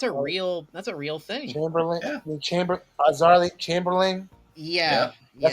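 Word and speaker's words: Azaria Chamberlain: a famously associated with a 1980 death of Arazari Chambolian in Australia. So yeah, that's a real thing. Chamberlain, Yeah. Azarly Chamberlain.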